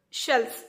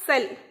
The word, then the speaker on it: cell: we used to put shells. Okay, cell, it is not shell, it is cell. Okay, CELL, okay, cell it is. It is pronounced as cell.